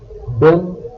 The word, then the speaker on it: bel: then beau becomes B-E-L, belle. Belle, B-E-L-L-E, is used with feminine nouns. B-E-L, belle, and B-E-L-L-E, belle, have a very similar pronunciation.